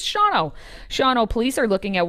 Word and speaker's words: Shawano: We're talking about Shawano, spelled Shawano for any of you who are not outside of the state would probably pronounce it as such. It's Shawano.